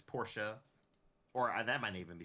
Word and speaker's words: Porsche: Like a lot of people will say Porsche, but it's Porsche, or that might even be still right.